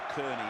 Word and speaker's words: Kearney: ball the 11 is stephen carney or kearney as he tells us now is the right pronunciation dean bell taken by